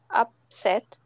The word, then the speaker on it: upset: on the second syllable more stress on the second syllable upset make the first one shorter okay upset that's it upset yeah